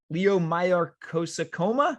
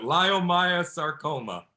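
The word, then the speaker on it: leiomyosarcoma: 25 diagnosed with leg i know i'm going to mispronounce this leo mayar cosacoma it took me seven years to pronounce it lyomaya sarcoma okay man i knew i was going to butcher that man no matter how many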